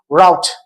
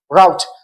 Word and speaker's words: route: So the 10th one is route, route in British English, while in American English, it is route, route.